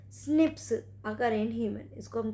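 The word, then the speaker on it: SNP: date इसे called single nuclear right पॉलिनॉम prism pronounce स्निप अगर और हेमंत इसको हम क्या बोलते हैं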